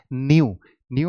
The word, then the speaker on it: pneumono: ये जो दो वर्ड है न्यू, इसकी दो प्रोनाउंसिएशन होती है, आप इसे नू भी कह सकते हो या न्यू आप इस तरीके से कह सकते हैं या आप इस तरीके से, दोनों इसकी प्रोनाउंसिएशन एक्सेप्टेबल है।